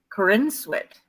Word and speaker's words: Corenswet: name um so they could know this it's Corinne sweat for instance all right crazy really pronounced three well friends which unless it was